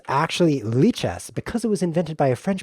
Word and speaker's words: lichess: That's pronounced lichess, in case you're wondering. It's not lichess. I know that I was calling it lichess for about 20 years, but then I realized it hadn't been invented yet.